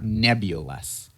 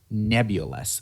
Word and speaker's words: nebulous: also quite unclear so let's pronounce it together nebulus nebulus with shuss on the first part nebul but for their